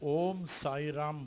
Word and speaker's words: ओम साई राम: सुनने के बाद ओम साई राम, ऐसा ही ई को साइलेंट, ई सुनने में नहीं आना चाहिए।